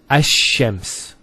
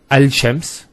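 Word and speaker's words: الشمس: actually a shed here so it's a shems not al shems because notice when you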